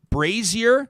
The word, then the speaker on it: Brazier: a a dairy queen um how did you pronounce it jody brazier right crazier burgers raise your burgers he used